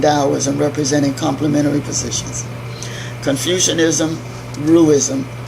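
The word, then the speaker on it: Ruism: representing complementary positions Confucianism roo ism rui sm emphasizes human will and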